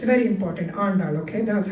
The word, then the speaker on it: Andal: Andal. It's very important. Andal, okay?